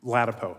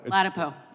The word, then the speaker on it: Ladapo: Bal thank you Mr chair Dr is it lpo is that how you pronounce ladapo sure it's all good either way no but how do you pronounce your name lpo lpo I like to get it right okay' are